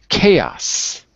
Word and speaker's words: chaos: D traveled traveled good chaos chaos chaos chaos that's it it's two syllables and finally arranged arranged